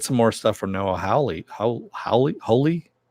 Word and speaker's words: Hawley: You know, we're gonna get some more stuff from Noah Hawley. Hawley.